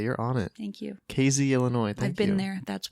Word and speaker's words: Casey: so this is in casey illinois it's actually pronounced casey you're really good today you're on it thank you casey illinois i've been there that's why you have